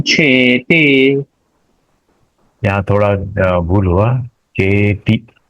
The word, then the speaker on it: चेति: चेति, टी का उच्चारण दीर्घ नहीं करना है।